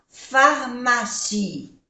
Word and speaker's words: pharmacie: Restaurant, A-U-O-A-N-N, restaurant, est situé entre, N-N, entre la pharmacie, no se pronuncia la E, et la librairie.